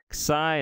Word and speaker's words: xi: Xi is a KS sound.